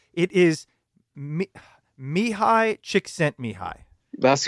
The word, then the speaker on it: Csikszentmihalyi: on and if I can you can you pronounce the author's name yeah well yes it is me me hi Csikszentmihalyi that's right it's yeah I can never remember